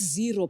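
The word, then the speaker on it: Xero: there's a there's a sage there's um it's pronounced zero but we we palette yeah um that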